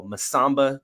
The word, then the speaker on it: Masamba: So Masamba Diop is how it is pronounced.